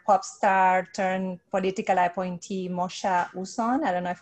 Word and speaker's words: Mocha: So it's Mocha Uzon, like the flavor, Mocha.